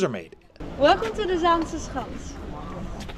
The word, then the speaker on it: Zaanse Schans: to the zans H can you pronounce that zans HT s's H H you're doing quite well we have so the first part of the word zansa comes from the Zan the river behind you and also from